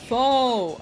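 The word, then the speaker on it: faux: Oh, foe. Ah, like like fake. Like fake foe. You don't know how to spell that word? I think it's f a Ux. If you're if that's the one that you mean, you blame the French.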